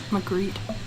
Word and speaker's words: Magritte: That's a Magritte. Did I pronounce that right? Magritte.